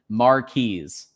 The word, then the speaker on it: Mares: So, Mark, so it's Mark, what did what did we say is the official pronunciation? Mares.